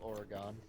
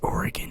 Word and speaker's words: Oregon: I call it Oregon. It's Oregon, and you will pronounce it as such.